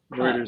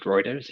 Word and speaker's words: Reuters: Is it Routers or Routers, or how do you pronounce that company? Reuters. I've always pronounced it Reuters.